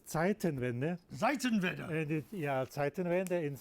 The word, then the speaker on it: Zeitenwende: Well, It says Zeitenwende.